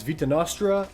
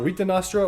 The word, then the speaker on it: Vita Nostra: Is Vita Nostra, or Vita Nostra, which is like the Russian pronunciation, which makes me feel like I'm Chekhov when I'm saying it, from Star Trek.